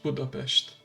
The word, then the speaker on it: Budapest: The first subway line of continental Europe was built in Budapest, or as we like to pronounce it in our native language, Budapest.